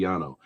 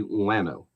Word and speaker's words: llano: you see so yes if you were pronouncing it from in spanish it would be yano but it's actually llano okay because again we